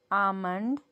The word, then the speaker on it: almond: Chalk, york, fork, walk, almond, salmon. Almond, salmon. These are 6 more words with silent letter L.